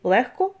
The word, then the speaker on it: легко: пишемо так і вимовляємо проте є п'ять слів в яких дзвінки перетворюються на глухий це такі слова як кігті нігті легко вогко дьохтю Ви чуєте що я вимовляю х а не г хоча ми пишемо в цих словах г ось транскрипція цих слів